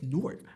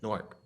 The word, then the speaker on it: Newark: It's Newark. I'm like, Newark.